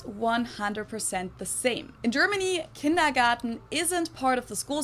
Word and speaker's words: Kindergarten: In German, we pronounce it Kindergarten, and it literally means children's garden.